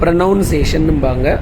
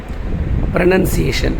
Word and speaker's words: pronunciation: என்ன ப்ரனன்சியேஷன், இதை சில பேர் ப்ரனவுன்சேஷன்னும்பாங்க, அது தப்பு. ப்ரனன்சியேஷன்.